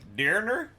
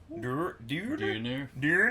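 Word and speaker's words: döner: So yeah, after that we went and got more doner kebab, which was amazing. Or like I pronounce it bad. It's like dirner, dirner. There's an umlaut over the O.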